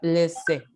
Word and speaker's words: laisser: El verbo se pronuncia laisser. Laisser. Laisser, sí.